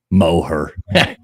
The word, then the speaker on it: Moher: Yeah, Moher, mower down.